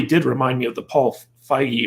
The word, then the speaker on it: Feig: remind me of the paul feige or paul feig i pronounce his name situation where we're basically not with an a even though many are tempted to think that his feet but basically he made a